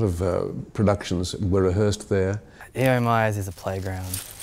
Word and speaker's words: E.O. Myers: E.O. Myers, it's the most mispronounced name on the campus, I think. I.O. Myers, 10 Myers, no, E.O., classical Greek Christian name.